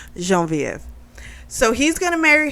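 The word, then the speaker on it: Geneviève: woman named uh in french they would say jean-viv here i guess we would say genevieve i don't like genevieve so i'm going to use the french pronunciation jean vf so he's going to marry her um she's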